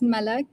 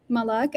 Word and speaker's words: Malak: I like my name to be pronounced as Malak, not Malak.